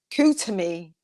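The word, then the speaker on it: Koot Hoomi: It says the pronounce it. Kutumi.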